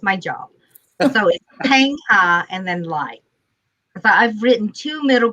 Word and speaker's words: Lai: evening um what i do basically is i pronounce my name for people that is my job so and then lie so i've written two middle grade novels and